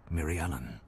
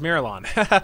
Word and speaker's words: Mirialan: Species, Mirialan. There you go. Apparently it's not pronounced Miralon.